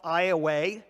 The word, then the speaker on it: Iowa: of Iowa and from for those of you who know the spelling of Iowa this is spelled the same way but in Southern Louisiana it's called Iowa I met with the